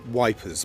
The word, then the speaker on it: Ypres: ruins of the Belgian town of Ypres which they the Tommies pronounced as wipers because very difficult to